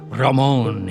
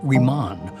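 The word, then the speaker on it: Ramón: the only one in the family who pronounced my first name properly. Ramon, he would intone, and coming from him, it sounded classical and romantic. But all my 9 siblings pronounced it Riman, or they called me by my nickname.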